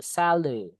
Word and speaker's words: salary: A yang salary ini kayak dibaca e salary kalau tenaga kerja atau buruh.